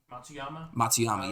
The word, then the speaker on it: Matsuyama: Matsuyama.